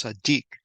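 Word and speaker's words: צַדִּיק: uh, Dalet Yud and the Kuf, and is pronounced Sadiq.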